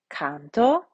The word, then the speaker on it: canto: Canto, cantas, cantat, cantamus, cantatis, cantant. Now here, let's draw our attention to our macrons. Notice that we have a long O in the first person singular, canto, and that we have